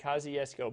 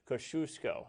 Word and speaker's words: Kosciuszko: Again, that they say it Kosciuszko back in Mississippi, but Kosciuszko, I'm never going to forget that.